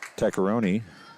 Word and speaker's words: Tecaroni: to fall finally as Tecaroni is how I was told to pronounce that. If I'm saying that wrong, let me know. I'll try to say it right if it's incorrect. I was told Tecaroni. Doesn't look like Tecaroni.